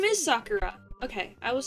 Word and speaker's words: Sakura: is Sakura.